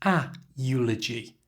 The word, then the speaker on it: eulogy: aware of here that even though the word eulogy begins with a vowel, the letter e, it's said with a y sound. And because of that, we use the article a. So it's a eulogy, never an eulogy. This change simply makes it easier to pronounce.